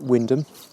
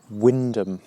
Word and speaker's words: Wymondham: this trip out to windham uh it's an interesting name windham spell wyman town or something like that and another one of those strange sort of norfolk pronunciations windham after i've had my